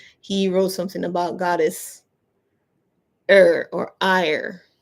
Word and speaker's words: Eir: He wrote something about goddess Eir or Eir. I've seen the pronunciation both ways. It's Eir, which could be like air or Eir. I like Eir.